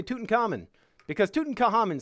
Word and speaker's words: Tutankhamun: gotta look up how to say tootin common Tutankhamun Pro pronunciation I gotta make sure I say that